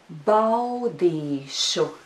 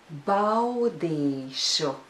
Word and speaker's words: Baudīšu: There is a diphthong au in this syllable. Bau. Bau. Do you think you can pronounce it together with me? Let's try. Bow. Let's do it again.